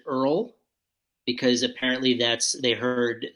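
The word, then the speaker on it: Oil: band that uh started spelled o-i-l but they pronounced it Earl because apparently that's they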